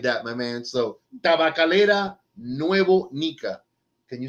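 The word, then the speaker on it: Tabacalera Nuevo Nica: to hear it like that my man so tabakalera nuevo nika can you say that no no no he's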